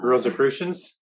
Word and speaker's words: Rosicrucians: Sorry, I don't know how, I still haven't learned how to pronounce Rosicrucians.